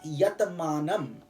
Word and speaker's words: yatamanam: first one is called the striving stage which is spelled as yatamanam y-a-t-a-m-a-n-a-m yatamanam so in this stage a devotee